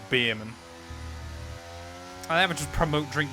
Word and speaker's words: Bearman: how you pronounce it I went no it's literally spelled bear man where did you get